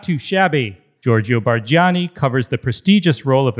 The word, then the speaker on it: Bargiani: And don't forget the smile, Ago Perrone and Giorgio Bargiani.